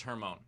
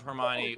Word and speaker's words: Hermione: just happened my favorite moment was uh was her moan the the mispronunciation of of hermione was so perfect because it happened right after